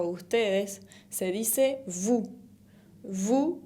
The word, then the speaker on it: vous: Vous, con la S final que no se pronuncia y la V labial, V.